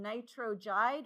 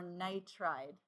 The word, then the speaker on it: nitride: Does nitrogen become nitrogide or nitride?